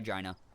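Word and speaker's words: Jina: have imagined later bye Gina that's how you actually say her name # religious trauma I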